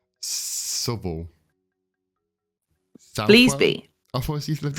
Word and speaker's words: Southwell: Hang on, let me pronounce it correctly. Southwell.